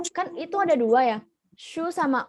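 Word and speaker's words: şu: Kalau misalnya su yang air, kan pakainya S biasa. Kalau misalnya shu, itu pakai S yang ada ekornya. S yang ada ekornya, shu.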